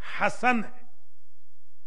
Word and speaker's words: حسن: इमाम का नाम हसन नहीं है, हसन है, फाल के वजन पे हसन, HASAN।